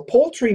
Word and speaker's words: poultry: L poultry poultry so it's like p-o-l-e like a fishing pole and then a tree poultry poultry poultry and